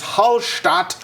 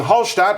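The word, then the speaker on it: Hallstatt: them it says is halat Austria yes shat is kind of the German or Austrian pronunciation actually more the German pronunciation cuz Austrian German is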